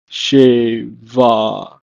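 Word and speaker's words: שבע: In Hebrew, masculine form is pronounced as shiv'ah, and the feminine form is pronounced as sheva.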